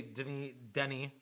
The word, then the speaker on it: Denis: How you pronounce it? Denis.